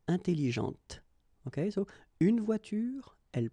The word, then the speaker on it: intelligente: When you put this well, actually you will pronounce the final T, okay, but you don't pronounce this here. Intelligente.